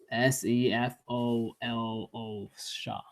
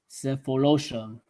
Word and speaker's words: Sefolosha: Uh, My apologies if I mispronounce this name. It's Sulushofa, Sefolosha. Cephalosha.